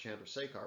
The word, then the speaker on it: Chandrasekhar: done uh but so it's it's again it's pronounced chandrasekhar but so if if the white dwarf reaches the chandrasekhar limit that's the point at which even though